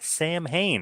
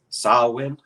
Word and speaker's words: Samhain: is coming up NWA Sam Hayne I hope I'm pronouncing that correctly I think it's uh it's pronounced sawin they they like they